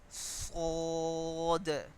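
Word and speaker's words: ص: Kho, sod. So this letter is pronounced with the raise in middle part of the tongue.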